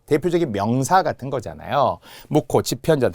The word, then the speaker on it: 집현전: 자, 발음은 분명 지편전 이렇게 발음이 나겠죠.